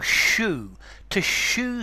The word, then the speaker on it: shoo: To shoo somebody away, to make them go. Notice it sounds exactly like the shoe that you wear on your foot, but it's spelt differently.